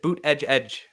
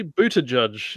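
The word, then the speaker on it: Buttigieg: edge edge really yes you pronounce it boot edge edge that's what he wants oh my god he's yeah wikipedia has it as a pronunciation there you go okay sure apparently booted judge is also valid I'm just gonna go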